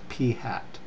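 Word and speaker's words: p̂: with that little symbol on top and it's pronounced p hat so p is for the whole population proportion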